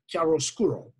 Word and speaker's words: chiaroscuro: of and that is a karo means a clear or light and scuro like obscure means dark so it's light dark chiaroscuro ch is always pronounced and what he does